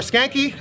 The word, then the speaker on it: Skancke: __ ] awesome man your last name is pronounced skank skanky skanky so I mean people